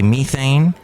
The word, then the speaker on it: methane: But last year saw record levels of major greenhouse gases, including carbon dioxide and methane, or as the British say, methane, released into the Earth's atmosphere, according to an international climate report called the State of the Climate Report.